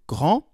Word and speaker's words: grand: in the masculine form, I did not pronounce the D in Paul est grand, the T in il est fort, and the S in il est gris. But when I add an E at the end, then I pronounce them.